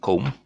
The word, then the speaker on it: comb: There's the word comb. I think I have a comb somewhere. That's comb. Okay. Comb. C-O-M. C-O-M. That's all. Comb. Not comb.